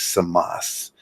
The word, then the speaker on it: Camus: The Rebel by Camus, or Samas. You pronounce it the way you want to pronounce it, but I'm Albanian, and it is Samas, and it sounds better. It sounds tougher.